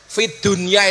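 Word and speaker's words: فِي الدُّنْيَا: Fit dunya itu sebenarnya bukan bacaan idhar, tapi idhom. Harusnya bacanya bagaimana? Fit dunya. Tapi ternyata oleh ulama disuruh membaca secara idhar. Jelas fit dunya. Kenapa urusan dunia harus dibaca idhar, dibaca jelas?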